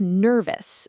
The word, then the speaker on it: nervous: Think of nervous. The stress is on nerve, so the ending is us.